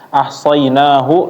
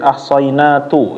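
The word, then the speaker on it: أحصيناه: Jadi ketika membaca kalimat ahsainahu dibaca ahsainatu, ya.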